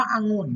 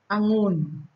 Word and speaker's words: องุ่น: อะ กึ่ง เสียง ค่ะ พยางค์ ที่ 2 เนี่ย เวลา อ่าน ออก เสียง เนี่ย จะ ออก เสียง เหมือน มี หอ นำ นะ คะ อย่าง เช่น คำ ว่า องุ่น นะ คะ อัน นี้